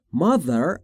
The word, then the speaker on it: mother: تیهچش رو دقت بفرمایید، در تلفظش زبون زیر نیش دندون بالا، سعی میکنید بگید ز، میشه ز.